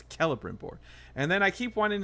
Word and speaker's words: Celebrimbor: I keep saying Celebrimbor, and you keep telling me it's a hard C. It's Celebrimbor.